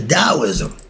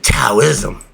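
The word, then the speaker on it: Taoism: Chinese confusion in the Daoism when I say da it's spelled t a o i s m i don't say taism Chinese and Egyptians flipflop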